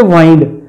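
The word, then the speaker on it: wind: चाबी देना होती है वाइंड अच्छा एक ल होता है विंड एक होता है वाइंड स्पेलिंग एक ही होते हैं बोलने में फर्क होता है विंड नोन है एर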